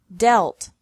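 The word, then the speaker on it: dealt: met lead Led Led another group has EA pronounced differently from the present to the past and past participle deal delt delt mean meant meant read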